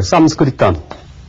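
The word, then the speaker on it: संस्कृतम्: 그래서 원래 산스크리트는 이제 이 서양의 학자들이 인도 말인 삼스크리탐 그러니까 이러한 인도 말을 이제 서양 언어 표기법으로 보다 발음하기 쉽게 나타내서 산스크리트어라 얘기를 하지만은 원래는 이 범어를 인도 내에서는 삼스크리탐이라는 명칭으로 불렀습니다.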